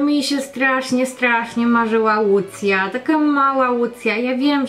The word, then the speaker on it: Łucja: No tak samo jak chodzi o wymowę, no w niektórych krajach nie powiedzą Łucja, tylko powiedzą właśnie najprędzej Lucja.